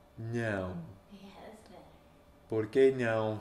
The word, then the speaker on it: não: It's not meowing, it's like, no. Não.